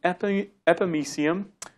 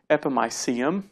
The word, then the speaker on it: epimysium: the first major type is the FME seeum right that's the Texas way of saying I like to say they the non Texas way would be the epimysium either way will go with either pronunciation but this is a